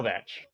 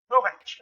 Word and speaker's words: Kowatsch: No, Kowatsch. Kowatsch. Okay. What was that? Sorry. Oh, so it's okay. I saw Yes. W. Yeah, no, it's a German last name. The pronunciation's a little weird.